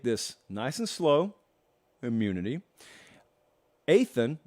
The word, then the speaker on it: Athan: Athan, not Ethan.